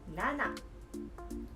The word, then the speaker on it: 七: Today's kanji is nana. Nana. So let's get started. Meaning 7. Radical. This stroke 1.